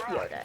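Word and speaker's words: Jöda: But it's pronounced Yoda still, okay? Because the J's in Swedish sound like Y's or something, but I don't care.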